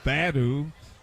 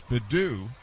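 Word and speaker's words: Baddoo: pronounce his name and they were calling him bad but they got the name right but he cooled off it's bedu and a breaking ball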